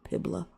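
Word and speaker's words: Puebla: I had to like really look up that road that word so I didn't say it wrong. Pibla. And that was on May 5th, 1862.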